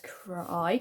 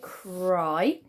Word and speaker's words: cry: goes together um but we do have the letter y making the i sound at the ends of some words so that one of those words is this and that says cry cry okay and i want